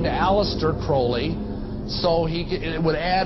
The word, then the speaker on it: Crowley: about was aliser Crawley he likes to have his name pronounced Crowley to rhyme with holy and uh the Satanist